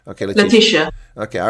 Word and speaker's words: Letishia: Is that how you pronounce it? Or is it Letishia? That's correct. Okay, Letishia.